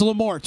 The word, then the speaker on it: Lamorte: It's Lamorte, right? Sometimes people pronounce it Lamorte, I bet.